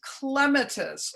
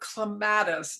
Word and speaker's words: clematis: Again, it's just a little detail of a flower, but this is clematis or clematis, depending on who taught you how to say it.